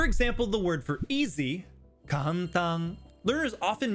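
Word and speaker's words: 簡単: But since every kana has one unit of length, it's actually pronounced ka-n-ta-n. Four units.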